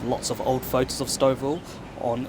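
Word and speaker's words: Stouffville: dooville a few times it's not Scoville it's not stvil it's stov Ville I was just walking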